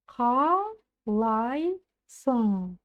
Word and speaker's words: Қалайсың: Как пишется, так и читается. Сялем. Разбираем дальше. Қалайсың.